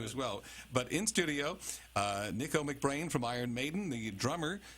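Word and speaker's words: Nicko McBrain: Nico McBrain.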